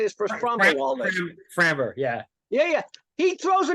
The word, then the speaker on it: Framber: Framber, yeah.